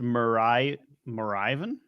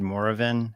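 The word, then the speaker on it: Moravian: It's pronounced Marivan, not however you said it, Rob.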